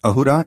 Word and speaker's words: ahura: Their languages had many common or similar sounding words except that sanskrit’s ‘sa’ becomes ‘ha’ in Avesta. Therefore, asura in Sanskrit is pronounced ahura in the Avesta.